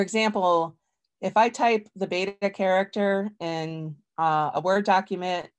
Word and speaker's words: beta: So for example, if I type the beta character in a Word document, VoiceOver can read it, but it doesn't read it as beta. It reads it as vita.